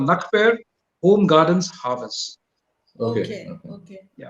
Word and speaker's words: Na Kper: Yeah, how you pronounce it? Nakper.